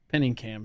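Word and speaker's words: Pinikam: that says lizzy this is what i can't pronounce here penny cam films okay penny cam films yes p-i-n-i-k-a-m tell us about it so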